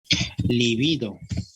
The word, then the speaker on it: libido: Acá le incluyo, acá estaría incluido, por ejemplo, libido. ¿Sí? Esa palabra no se tilda, solo tiene acento grave.